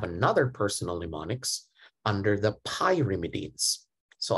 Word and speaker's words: pyrimidine: And I have another personal mnemonics under the pyrimidines. So I want you to pronounce it as pyrimidine, not pyrimidine, because if you pronounce it like pi, you actually cut the pi.